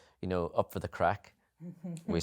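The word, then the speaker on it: craic: you aren't just like, up for the crack.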